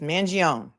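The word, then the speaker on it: Mangione: mangion allegedly allegedly right there's no e it's Manon thank you man gon ladies Zelda is gonna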